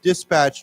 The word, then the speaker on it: dispatch: Now it's interesting because I think there's a slight difference in pronunciation here as a shingle you can say dispatch driver dispatch bus but if you say to dispatch then as a you emphasis goes to the last syllable.